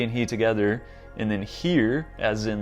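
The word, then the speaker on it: hir: of humanity he calls it uh she but it's spelled capital s capital h e just putting she and he together and then here as in like his or her h-i-r as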